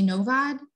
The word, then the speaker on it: Novad: name up um Kimberly novad please let me know how to say it if that's not correct that's exactly correct oh great okay uh